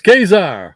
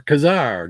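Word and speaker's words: Ka-Zar: Where's Kazar or Kazar, depending on where you are and how you say it.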